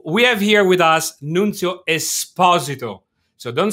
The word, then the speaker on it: Nunzio Esposito: Today we host the best-looking dude in the software industry, Nunzio Esposito, which I'm being coached as the proper Italian way of pronouncing.